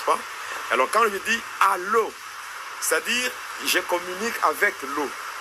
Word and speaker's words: allô: Maintenant, si nous prenons la phonétique ou l'orthophonie, on peut diviser en deux syllabes. Il y a A et l'eau. C'est allô.